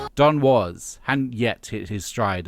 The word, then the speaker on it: Don Was: I thought his name was Don Wais, but he's pronouncing it Don was.